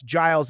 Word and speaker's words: Giles: the 1903 case of gues versus Harris GES Giles is how you say his name was a black man